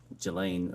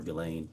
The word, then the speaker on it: Ghislaine: As best as we know, it's been reported that in 2024, Ghislaine Maxwell, or Ghislaine, I think is how it's pronounced, arranged and wired $1 million to Publicist